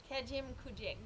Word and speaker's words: Kejimkujik: starriest of Starry Nights all righty welcome to Camy junk kazoo Camy junk Port so how do you actually pronounce it Kim kuek Kim kuek yeah perfect land of the little